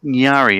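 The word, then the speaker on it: Ngari: up the meaning n g a r i pronounced nari apparently the nunga word for salmon so she's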